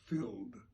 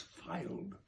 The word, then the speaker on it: filed: by all the muses filled I'm going to start again because I mispronounced that last word it's not filled it's filed my tongue tied Muse in